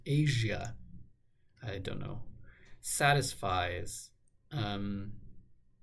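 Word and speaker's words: Aja: Steely Dan album whose name is pronounced Asia I don't know satisfies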